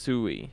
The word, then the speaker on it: Sui: pronounced Sui.